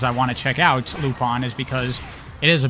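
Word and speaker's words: Lupin: lupon it's uh uh lupon the third pronounced l u p i n I'm pretty sure it's pronounced lupon um it's an anime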